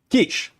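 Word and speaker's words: quiche: Kish, pronounced ke e s h.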